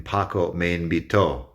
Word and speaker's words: invitó: The difference is the accent over the O in Paco me invitó. When you say it that way with the strong O sound at the end, that's the strong syllable in the word, that makes it past.